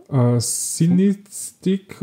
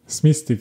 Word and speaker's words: Smistik: Die Tore für Rapid schoss ein Matthias Kolosek und ein Josef Sinistik oder so. Wie? Smistik, ja.